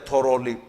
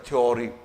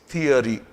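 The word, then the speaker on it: theory: most of द people this word S थ्योरी इट्स नॉट थ्योरी इट्स थिरी इट्स थिरी थिरी this is correct but इफ you pronounce it like this थ्योरी यह गलत है clear so meaning है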